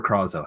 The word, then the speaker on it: Krezo: Pib, you and your gang, Orak and Krezo, is it Krezo or Krazo? How do you say it? Krezo.